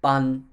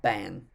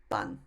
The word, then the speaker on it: bun: And this word is pronounced tsuka, and similarly bun, not ban, bun.